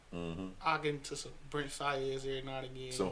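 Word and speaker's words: Brent Faiyaz: Brent Fayez.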